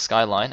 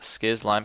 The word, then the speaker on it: skzlime: That is in fact pronounced Skyline and not Skiz Lime.